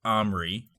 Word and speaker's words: Omri: I pronounce it Omri.